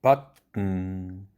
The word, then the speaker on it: button: button, cousin, beaten, open, often, oven, student, sudden, cotton, listen, seven, dozen, organ, prison.